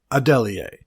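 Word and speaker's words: Adeleye: We got it close, but it is Tunmise, and it is Adelier. And now a way to remember this is be like somebody suggests Adeli, and you're like, Adelier?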